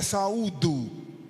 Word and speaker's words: saúdo: que fica o auditório eu vou e saldo com a paz do Senhor se a pronúncia correta é Saúdo aí fica ruim uma